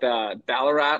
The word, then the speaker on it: Ballarat: I know you got a unique story as well, being from, I looked it up, Ballarat, Australia. Did I say that right? Yeah, you got the Boom.